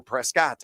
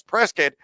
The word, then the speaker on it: Prescott: Prescott is a city in Arizona, and he spelled the same way, and you have to say it as Prescott, or they'll kick you out or actually not let you in the city limits.